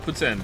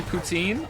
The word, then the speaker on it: poutine: pretend some people say poutine I said poutine for a long time sometimes I still do say poutine but apparently it's actually pronounced Putin Lily wants to move